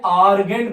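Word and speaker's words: Argand: Spelling देखिएगा ध्यान से, इसको बोलते हैं आर्गेन प्लेन, ठीक है।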